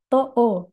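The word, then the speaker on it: 十: Hati-hati bagian panjangnya vokal O ini menggunakan hiragana O. To O.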